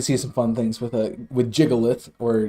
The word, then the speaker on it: Gigalith: We can see some fun things with Jigalith, or Gigalith, as most people pronounce it, this season.